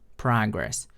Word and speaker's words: progress: And the second mispronunciation is progress. It's not progress. So progress is the verb, but in the context you use this word, it was noun. So noun is progress.